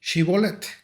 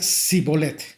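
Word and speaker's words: שיבולת: Si él respondía, no, entonces le decían, ahora pues, di Shibolet. Y él decía, y él decía Sibolet, porque no podía pronunciarlo correctamente.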